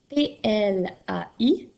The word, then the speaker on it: plaisir: Alors, dans le mot plaisir, tu entends l'équipe E qui s'écrit AI et tu entends aussi le son Z qui s'écrit avec un S et non pas avec un Z.